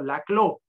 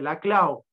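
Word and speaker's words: Laclau: la Clau la Clau muchos lo pronuncian como Ernesto la clo pero como no es francés se dice la Clau él escribió un libro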